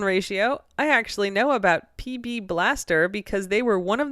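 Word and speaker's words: PB B'laster: penetrant per their ads the uh apostrophe does not get pronounced so PB Blaster okay okay the PB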